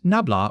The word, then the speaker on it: nabla: The symbol is the upside down triangle pronounced nabla or dell depending on which generation taught you.